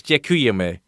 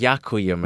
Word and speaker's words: děkujeme: I just need to remember that it's so it's děkujeme. Yeah. Děkujeme. Oh, I always thought it's yakujeme. No, děkujeme. I edit every single podcast, and I never noticed that you were saying jakuyame.